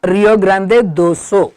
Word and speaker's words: Rio Grande do Sul: Goiás, São Paulo, Paraná, Santa Catarina, Rio Grande do Sul, बट बोलने के time Rio Grande do Sul.